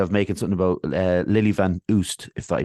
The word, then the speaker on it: Van Oost: making something about Lily Van Oost, if I pronounced that correctly? Yeah, that's correct. I think it's pronounced Van Oost in Oost, is it? Yeah, the kind of Flemish, but it's yeah.